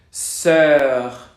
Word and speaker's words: sœur: Estamos haciendo la boca en forma de O abierta, pero pronunciamos E. Para hacerlo, la lengua queda como en una cuenca. Exacto, es la de œil, sœur, cœur, cœur.